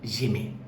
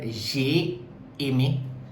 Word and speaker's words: j'aimais: So j'aimais. So that's the pronunciation. It is not j'ai aimé, it is j'aimais in this sentence.